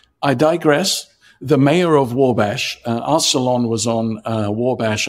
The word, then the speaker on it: Wabash: So, it's actually pronounced Wabash.